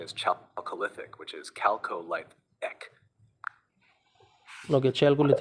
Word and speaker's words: Chalcolithic: The word chalcolithic is pronounced as calcolithic. Chalcolithic or calcolithic, what is correct? The correct pronunciation is chalcolithic, which is calcolithic.